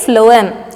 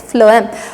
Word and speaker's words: phloem: is phloem so here p h should be pronounced as f okay phloem it's not chloem or something it's floam okay so the two